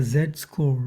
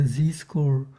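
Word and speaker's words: z-score: zed score or the zcore was um what the zed score or zcore was. Okay, I keep saying zed score zcore because the Americans say zcore and the British say zed score and like it's a mess.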